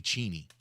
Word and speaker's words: Cheney: somebody said you know it's actually cheny is it really it it really is it's cheny it's not Cheney but he's like